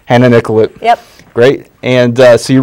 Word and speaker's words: Hannah Nicollet: Because I've heard it pronounced both ways. It's so. Hannah Nicollet. Hannah Nicollet.